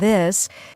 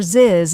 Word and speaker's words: this: native language for example the th sound in words like think and this many Learners pronounce it as s or Zed like syn instead of think or ziz instead of this that's a class